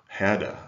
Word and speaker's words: Herder: by the german philosopher herder heder i guess he would be pronounced in german i don't speak german